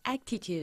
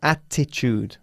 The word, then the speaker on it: attitude: it depends on his actitude no attitude not actitude attitude there is no C in English no actitude okay okay attitude attitude